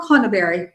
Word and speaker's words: Conneberry: It's Coral Conneberry, by the way. That's how you pronounce her last name.